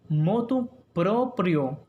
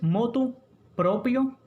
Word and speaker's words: motu proprio: Y escuche bien, aunque le parezca rara, aunque nos cueste pronunciarla, lo adecuado es motu proprio. ¿Escucharon bien? Motu proprio. No es motu propio, ni de motu propio, ni por motu propio.